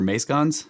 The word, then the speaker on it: mascons: Mascons or mascons?